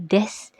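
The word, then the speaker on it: です: Sama seperti des yang ditulis dengan desu.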